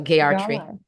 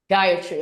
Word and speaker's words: Gayatri: So, Gayarti. You said it right? I didn't hear you the last time. I just Gayarti? Gayarti? Gayatri. Yes. Gayatri.